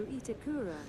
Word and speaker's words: Itakura: So here's the question: do I pronounce the U in that or not? Is it Itakra or is it Itakura? You know, if you write Asuka but you say Aska, then I wonder. You know. Martina Staymont says last one. Aska? That's how you say his name? That's not how you write it. Martina Staymont says no Itakura. Itakura.